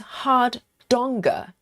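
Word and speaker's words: Hardanger: Oh, Steve says it pronounced hard donga. Hard donga. That sounds Yes, it sounds a little bit Norwegian or German.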